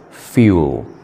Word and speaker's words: fuel: I'm sorry that's a wrong pronunciation the correct pronunciation is fuel fuel f u e l it's fuel tell